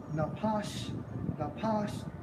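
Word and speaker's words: נפש: For living creature, in the Hebrew, Strong's H5315 pronounced as napash, and it means soul, self, creature, person.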